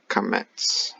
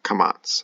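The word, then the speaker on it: kamatz: And then kamets or kamats. I just emphasize the TS. Kamats, emphasize the TS because it looks like a T.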